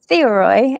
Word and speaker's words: Theoroi: It's Theoroi. It's the Greek word for observer.